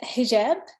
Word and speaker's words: hijab: the united states yes now help me uh pronounce it correctly i don't know if i did earlier it's hijab headshot okay yes but you did a good